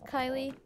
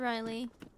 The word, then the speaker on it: Kylie: listened to sausage okay my name is Kylie with a K not Riley it's spelled the same as Riley but literally just with a case I mean it's close